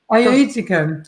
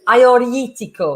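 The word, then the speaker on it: Agiorgitiko: So Ioetico. Ioetico, yeah. There's a lot of G's in there that you don't pronounce.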